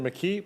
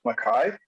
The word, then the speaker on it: McKee: your video on mr mckee please proceed with your presentation thank you very much everyone and just to correct uh for the record my last name is pronounced makai good evening i'm here